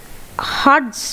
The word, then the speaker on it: Hertz: এককের নাম হচ্ছে, উচ্চারণটা একটু অদ্ভুত রকম, হার্টস বলে, ঠিক আছে। ইংলিশে লেখে হচ্ছে HERTZ, হার্টস, ওকে।